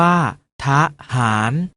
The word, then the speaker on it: ทหาร: อะ กึ่ง เสียง เช่น ทหาร ออก เสียง ว่า ทหาร ถนน ออก เสียง ว่า